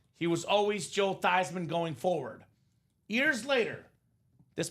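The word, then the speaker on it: Theismann: It's actually pronounced Tyman, Robbie." So, the proper pronunciation, the German name is Tyman.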